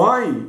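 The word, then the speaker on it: עין: O Ain, ele é mais faríngeo mesmo, né? O Ain, ele é mais faríngeo, então ele não usa tanta laringe, mas usa a faringe. Você fala Ain, você já percebe que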